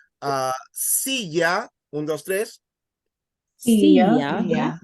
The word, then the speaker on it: silla: So if a word ends in a vowel, you stress the second last syllable. Also, if a word ends in N or S, you stress the second last syllable. But if a word ends in a consonant other than N or S, you stress the last syllable. That's why you would say silla, and then you would say proyector.